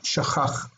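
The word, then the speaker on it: שָׁכַח: This isn't K, it's cha. Shachach.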